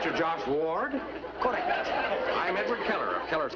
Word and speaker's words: Ward: to me you see i pronounce my name w-a-r-d w-a-r-d ward ward yes i am